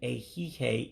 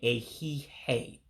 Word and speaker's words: ehihie: Now, the second I in A-Hee-Hay is eliminated, so you don't pronounce the second I. That's why I'm saying A-Hee-Hay. I'm not pronouncing that second I, and that's on purpose.